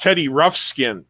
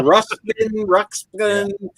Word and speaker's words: Ruxpin: All I'm hearing is Teddy Roughskin. Yeah, Ruxpin.